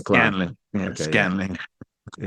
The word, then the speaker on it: Scanlan: So but the last part is Scanlan, right? It's not Saclan. Scanlan.